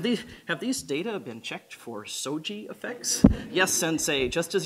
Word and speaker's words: SOGI: I like it because it sounds so samurai. You know, have these data been checked for SOGI effects?